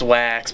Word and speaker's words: Wex: changes his name well bj wex is pronounced wax but everyone everyone pronounces it wax versus like it's actually wax i know it's an